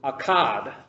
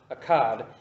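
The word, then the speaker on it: Akedah: hebrew it's a q a d it's pronounced pronounced in the hebrew akad akad and it means binding it means binding and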